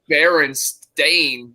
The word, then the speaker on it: Berenstain: Bears, but now it's Berenstain Bears. And, I can understand burn and Baron. I just pronounced that wrong, but it was Steen. And now they're trying to change it to Stain.